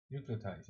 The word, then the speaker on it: nucleotides: I need to know how to pronounce that word because I know that I will say constantly so nucleotides.